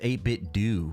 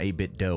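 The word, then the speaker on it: 8BitDo: It's pronounced 8-bit Do, not 8-bit dough.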